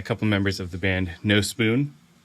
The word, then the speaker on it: Nospun: members of the band no spoon I had to look up how to pronounce it because I kept wanting to say no spun I'm sure you get